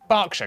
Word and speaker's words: Berkshire: Southwark, ER is pronounced R. Berkshire, Clerkenwell, Hertfordshire.